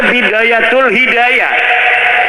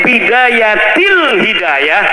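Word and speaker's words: بداية الهداية: Karena deke maca Bidayatul Hidayah. Harus sebah dibacanya Bidayatil Hidayah karena anak huruf jerbe.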